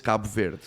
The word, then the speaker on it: Cabo Verde: So, the the Portuguese pronunciation is Cabo Verde.